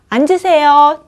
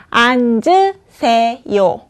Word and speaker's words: 앉으세요: 哦请坐哦怎么怎么 앉으세요 就可以哦 앉으세요 发音就是 앉으세요앉으세요 再一次